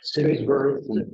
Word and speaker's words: Simsbury: anniversary of some asset, I forget how you pronounce it, the town in Connecticut, it's Simsbury.